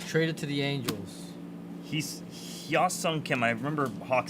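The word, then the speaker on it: Hyeseong Kim: He's Hyosung Kim. I remember Hawk said it earlier. It's perfect pronunciation. James Tibbs out of 150 blue. Heesung. That's it. Heesung Kim.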